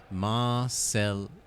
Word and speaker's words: Marseillaise: Marseillaise, I've been told, is closer to the correct pronunciation.